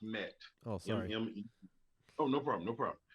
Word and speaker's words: MMET: so it's so let's switch gears here uh mnet solutions right this is your business uh talk